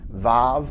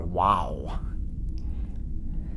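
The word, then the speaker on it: וָו: next letter is and usually we say that that makes a a v sound vav although an alternative pronunciation is a w sound wow next letter is zion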